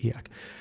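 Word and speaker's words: e/acc: uh and they um abbreviate that as eak that's how they pronounce it eak uh at first glance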